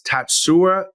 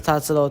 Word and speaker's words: Tatsuro: My name is Tatsuro Taira. Tatsuro. Right. So Tatsuro. I've been saying Tatsuro, right? So I've been emphasizing the wrong syllable.